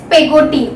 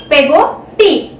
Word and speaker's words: Peggotty: Students concentrate on my pronunciation, it's Pegoti, okay? Pegoti. Pegoti कौन होता है, servant of David Copperfield's mother, okay?